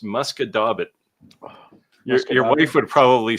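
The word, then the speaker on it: Musquodoboit: this would be pronounced muscadabit. Your wife would probably say something like muskadis, except it's a t, not an s at the end.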